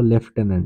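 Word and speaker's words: lieutenant: GENERAL, তাহলে এই হলো লেফটেন্যান্ট। মনে রাখতে হবে লেফটেন্যান্ট বানানে কিন্তু কোনো এফ নেই, নো এফ, প্রোনাউন্সিয়েশনে আছে, উচ্চারণে আছে এফ, কিন্তু স্পেলিং এর ক্ষেত্রে, বানানের ক্ষেত্রে কিন্তু কোনো এফ এর এক্সিস্টেন্স নেই।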